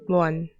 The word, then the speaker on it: Mohan: now his name is moan I mean I do I say that no I I don't pronunciate it like that in French I Say moan moan the H is silent yeah so um yeah